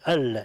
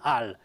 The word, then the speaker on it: il: Allora, il, che questa è la pronuncia del piemontese letteraria, il, non al, perché per esempio a Turin si dice per esempio al pare, no?